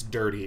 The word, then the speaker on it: Dur7y: Dur7y says, it's dirty, referring to the pronunciation of their name, as opposed to my answer.